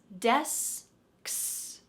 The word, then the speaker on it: desks: to say this word let's separate ks from the first part d-e-s desks desks desks desks desks